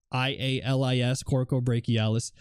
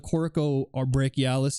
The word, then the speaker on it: coracobrachialis: The way you spell it, it's spelled COROCOBRACHIALIS, coracobrachialis.